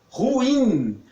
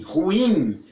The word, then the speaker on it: ruim: das pessoas pronuncia é ruim a força vai toda no ir ruim e não Luo ruim porque não tem acento É ruim mas as